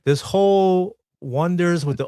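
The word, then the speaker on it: Oneders: So, in the movie, the band's name is called The Wonders, but they spell it with an O ne, as iners. Yeah. Everyone gets it wrong. And they call them the Oners.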